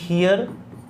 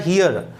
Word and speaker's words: here: पहली बात तो ध्यान रखना इसका प्रोनाउंसिएशन होता है हियर. कई लोग उसको हेयर बोल देते हैं, हेयर नहीं हियर.